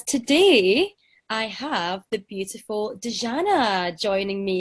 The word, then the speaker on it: Dijana: with pronounciating my name it's actually Deanna because I come from Balkans but you can go